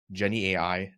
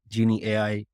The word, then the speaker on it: Genie AI: I'd just like to correct your pronunciation of those names. That's Mizan Bank, Dawai, Crave Mart, Genie AI, and yeah.